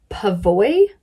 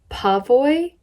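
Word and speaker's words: Pavoi: website too but it's i think it's pronounced pavoy pavoy p-a-v-o-i i'm a big fan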